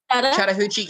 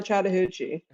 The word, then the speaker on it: Chattahoochee: uh shout out how do you say this Chattahoochee County Chattahoochee County in Stewart County Georgia you